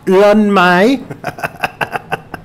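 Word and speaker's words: Lyn May: ¿Cómo se pronuncia? Lin-May.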